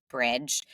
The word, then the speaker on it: Brij: then the need to bridge um the offline and the online and that direct relationship so that's where Bridge it's spelled b r j but pronounced Bridge that's where that comes